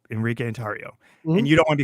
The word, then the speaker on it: Tarrio: certificate is Enrique tario it is it's Enrique andario and you don't want to be called by